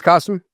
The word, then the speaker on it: Kasim: My name's Kasim. Rhymes with awesome.